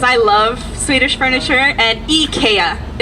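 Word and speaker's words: IKEA: love Swedish furniture and eeka is actually how you say it in Sweden eeka all right we couldn't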